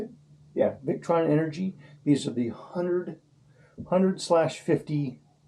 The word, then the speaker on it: Victron: Yeah, Victron Energy.